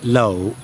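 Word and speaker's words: lẩu: And that's pronounced low low. Hot pot. And it's got that zohigh again pronounced low.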